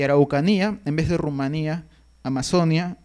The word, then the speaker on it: Rumanía: llana, viene del albanés; o Rumania, o Rumania, que mantiene en la pronunciación Rumanía, es la pronunciación la propia lengua, del rumano; o casos como que